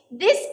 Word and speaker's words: this: Đưa lưỡi ra và nói giống như âm d.